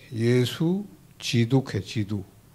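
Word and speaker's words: 基督: 이것 을 한자 로 쓰면 기도 ( Gidok) 가 됩니다 . 중국어 발음 은 지두 입니다 .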